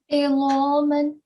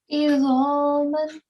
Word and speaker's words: عظاما: heard it correctly, but I thought you were pronouncing the za as la. So how did you pronounce this? Izaman. Yeah, okay. Iza. So make sure there's slight vibrating sound is not there. Iza. Izaman. Yeah, that's better.